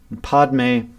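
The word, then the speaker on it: padme: are tethered in fear pod may so the two said two syllables a pod may which means lotus symbolizes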